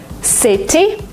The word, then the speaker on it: city: In American English, if you have a letter T in the middle of a word, sometimes you pronounce it as D. Letter, letter. Letter? Because it's faster, because it's smoother. City, you don't say it. City, city. City? It's like DNR, city.